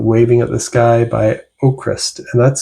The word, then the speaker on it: Avkrvst: So check out Waving Up the Sky by Ocrist, and that's spelled AVKRVST, and the V's are pronounced like U's.